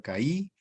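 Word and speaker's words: καί: es una conjunción que significa se pronuncia caí significa I no Y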